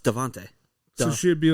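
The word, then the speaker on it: Davante: spell his name he spelled it but it's pronounced devante okay but it's spelled devinte d-a-v-a that's how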